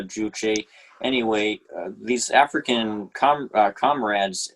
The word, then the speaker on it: Juche: of socialism uh i've i thought it's it's pronounced juje but maybe this is just uh the way that english i'm you're a better expert than i am on this uh i i think i i'm pretty sure it's pronounced uh juche anyway these african com